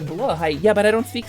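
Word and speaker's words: Blåhaj: Blahaj is Swedish, I believe, so it would be pronounced more like Blahaj.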